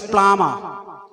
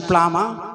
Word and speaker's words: plumber: correct neighbor it is plumber it is flammable b is silent so plummer listen to the pronunciation plumber with spellings plummer p-l-u-m-b-e-r